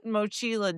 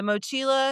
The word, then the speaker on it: mochila: horse and the rider should perish before the mochila did. Meaning the mochila is way more important than them. The mochila.